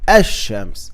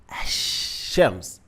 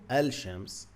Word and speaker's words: الشمس: So you're gonna change the lam to sheen, الشمس.